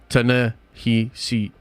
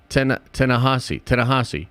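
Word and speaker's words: Ta-Nehisi: Ta-na-he-si Coates. Yeah, pronounced just like it. Tanahasi.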